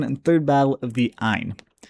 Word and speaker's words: Aisne: You have the first, second, and third battle of the Aisne. That is A I S N E, the S is silent.